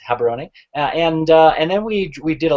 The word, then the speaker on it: Gaborone: It might look like Gaborone, however, it's spelled Gaborone, or sorry, pronounced Gaborone.